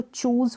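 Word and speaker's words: choose: फिर यहाँ पर है, इसको चूज़ पढ़ेंगे, CH को च, चूज़ नहीं चूज़, यानी कि ये जो डबल ओ है ये बड़े ओ के रूप, बड़ी ऊ के रूप में, लॉन्ग प्रोनाउंसिएशन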